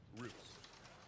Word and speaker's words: Rus: The Vikings took with them Finnish translators who introduced the Swedes using the Finnish word for them, a name the Slavic people of the Baltics pronounced Rus.